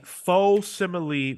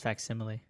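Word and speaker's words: facsimile: okay they're publishing a faux simile version of a death in the family so what does that mean it's pronounce fact simile Marco read the show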